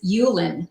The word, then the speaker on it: Hulan: name is pronounced and my last name is yulin so it's a Silent Age along you you learn